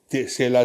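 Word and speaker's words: Sela: 2 Passage हैं वहाँ पे, एक सेला है जो SE और एक TSE, सेला, both are pronounced as सेला।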